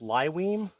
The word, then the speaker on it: Lyweem: a duffel bag the brand is uh it's pronounced lywine l-y-w-e-e-m I will put that in the description